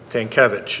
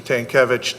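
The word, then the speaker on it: Tankelewicz: the last name t-a-n-k-e-l-e-w-i-c-z tankevich is how i would pronounce it hopefully i'm right um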